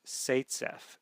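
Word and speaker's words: Zaitsev: name um Z AI TS V but it's pronounced satf satf so um in some textbooks you'll see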